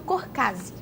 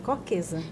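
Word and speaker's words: Kochkäse: E a Marian, mestre em Engenharia Ambiental pela FURB e que hoje atua principalmente em pesquisas com o queijo Corcase. Pronunciei certo? Não, é Corquesa.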